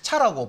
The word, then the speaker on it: CHAR: 자, 필드 만들 때 글자 한 자만 저장해라 하면 캐릭터 1, 캐릭터 차라고 보통 있습니다. 왜? 캐릭터 해버리면 그 스펠링을 우리가 다 쓴다고 생각할 수도 있으니까 이게 좀 구분하기 위해서 그냥 뭐 이렇게 또 이렇게 발음을 해요.